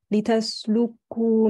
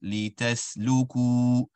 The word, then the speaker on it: لتسلكوا: Right here in the beginning, it sounds like you're joining the lam and the kaf. لِتَسْلُكُوا. Rather, the lam and kaf should be separated. لِتَسْلُكُوا.